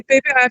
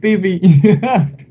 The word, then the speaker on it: Pepe: I say Pepe. I think I say it the French way anyway. How you say it? Pepe, like that, but in English sounds fun, but it's like that. But at first it was like Pipi.